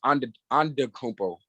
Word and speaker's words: Antetokounmpo: it's actually pronounced Antetokounmpo.